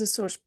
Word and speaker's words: Açores: Nos Açores, here no Z.